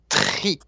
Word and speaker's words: très: Donc, d'abord le son T. うん。 Ensuite, on fait vibrer le son R. Et ensuite, le son I. Tri. très, très. J'ai fait C'est du prêt. très. Oh, c'est mieux. C'est mieux. J'ai fait du Attention. très. Voilà. Sans allonger le I.